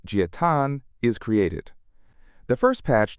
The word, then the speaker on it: Jia Tan: A GitHub account named Giat75, pronounced Giatan, is created.